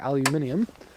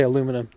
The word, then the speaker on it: aluminium: out of aluminum, or aluminium. How do you say it in Australia? I'm not sure. In Canada, we say it wrong. We say aluminum, which is dumb, but if that's what